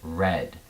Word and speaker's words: read: The past tense of read is spelled the exact same way, but instead of saying read, we pronounce it read.